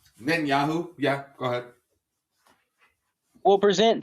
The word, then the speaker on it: Netanyahu: Nitanu, how do you say his name? Netanyahu.